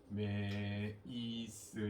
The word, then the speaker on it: primase: 프라이메이스 이건 미국식 발음. 프리마제 이거는 독일 영국식 발음. 똑같이 부른다.